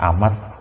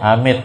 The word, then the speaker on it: amat: nama Allah yang amat, itu bacanya amat. Jangan dengan nama Allah yang amit, salah. Dengan nama Allah yang umat, amat bacanya.